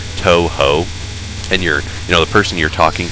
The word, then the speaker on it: Touhou: talk about it, just the use of those two syllables, Touhou, and the person you're